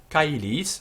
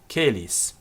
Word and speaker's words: caelis: So pater noster qui es in caelis, and in caelis the AE is pronounced I, as in Caesar. It's a diphthong, two letters coming together to form a distinct sound. In medieval Latin, this became caelis.